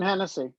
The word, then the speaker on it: Hennessy: You and Hennessy, is that how you pronounce her name? Yep, Susan Hennessy.